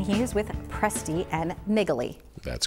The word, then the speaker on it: Naegele: With us now is Andy Presti, and he is with Presti and Naegele. That's correct. You pronounced it correctly.